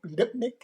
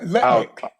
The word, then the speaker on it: Lutnick: Well, did you hear did you hear what was the treasure secret lipnic? Mhm. Did I pronounce that correctly? Yeah. Lutnik.